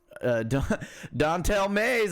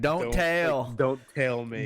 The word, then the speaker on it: Dontel Mays: Dontel Mays. I love the way his name is spelt because it's like don't tell Mays.